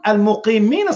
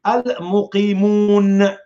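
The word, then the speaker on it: المقيمون: Now, in Arabic, it said, al-muqimun, al-muqimina salah. I almost said it right. I said it right. He said here, al-muqimin as-salah wal-mu'tun az-zakah. That word here is wrong. Why? It's supposed to be al-muqimun.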